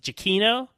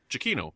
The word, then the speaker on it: Giacchino: chemo JK I see I never say it right I said I call him Michael G so Jackie no Jackie no chiquinho all right it's not that complicated I guess when you say we see it like that but anyway he I